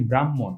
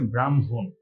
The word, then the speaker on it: ব্রাহ্মণ: করে ফেলি সেটা হচ্ছে এটার উচ্চারণ আমরা বলি ব্রাহ্মণ এটার উচ্চারণ কিন্তু ব্রাহ্মণ নয় এটার উচ্চারণ হচ্ছে ব্রাহ্মণ আর এখানে কিন্তু খিয়ো